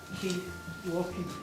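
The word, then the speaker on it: waulking: But this kind of walking sounds the same, but it's spelled W-A-U-L-K. So it's got an extra letter W-A-U-L-K, walking.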